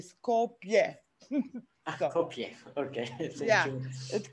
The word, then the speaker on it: Skopje: It's spelled phonetically, so it's pronounced Kolozova, it's spelled, and the city is pronounced also phonetically, Skopje.